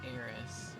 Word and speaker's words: Aerith: people used to have about Aerith, and how her name used to be pronounced Eris.